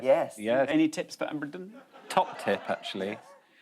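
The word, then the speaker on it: abrdn: It's now called Aberdeen. No. But still pronounced Aberdeen.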